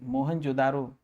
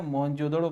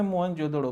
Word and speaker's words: मोहनजोदड़ो: सब वो कहेंगे सब पढ़ते हैं सब ऐसे मोहनजोदारो ठीक ना? मोहनजोदड़ो पढ़ दे, हिंदी में मोहनजोदड़ो बस, इंग्लिश में जब पढ़ी तो मोहनजोदारो, नहीं तो सब कहेंगे सर गलत प्रोनाउंसिएशन करते हैं आप।